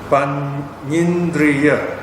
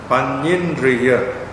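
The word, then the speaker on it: paññindriya: Panyindriya. Panyindriya. Panya long R plus Indriya.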